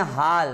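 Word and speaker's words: hall: या हम बोलते हैं हाल, तो हाल नहीं बोलते, क्या बोलते हैं हॉल।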